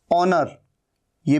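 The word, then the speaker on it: honour: है ऑनेस्ट मतलब ईमानदार ऑनर यह भी एच यहां पर साइलेंट है ओनर का मतलब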